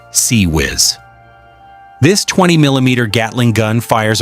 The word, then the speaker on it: CIWS: The fifth and last defensive layer is the Mark 15 Failank CIWS, pronounced CE Whiz.